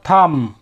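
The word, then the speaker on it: thumb: है यहां पे भी हम बी को उच्चारित नहीं कर रहे हैं क्योंकि इंग्लिश का एक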